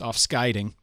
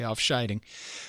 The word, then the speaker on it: Afscheiding: I know German, so my German pronunciation might influence my Dutch and then make me make errors. Like I know it's offscheiding even though all every fiber of my being wants to say afscheiding.